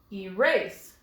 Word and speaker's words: erase: Let's try moving the accent to the second syllable. Erase. Will you please erase this mistake? Erase sounds right.